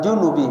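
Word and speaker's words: جُنُب: Faqala, dan pengarang mengatakan, wa yahrumu alal janbi, alal junubi, bacanya junub, dan diharamkan atas orang dalam kondisi junub, ya, khamsata asya'a, 5 perkara.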